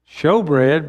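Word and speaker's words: shewbread: For example, on the wall on the northern side, you have the table of showbread, pronounced showbread, but spelled S-H-E-W all the time in the Old Testament.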